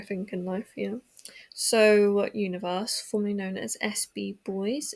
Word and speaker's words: 1VERSE: So today we're talking about universe or technically if you were to see it written out it would just be one verse but it is pronounced universe.